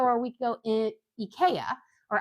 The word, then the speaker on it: IKEA: two weeks ago or a week ago it Ika or Ikea that's how you guys um pronounce it here but um it it was